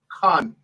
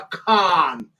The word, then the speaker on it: Khan: Khan is got a point, but it's not Khan. It's a Khan. Like Cannon. Yeah, that's how you say my name properly.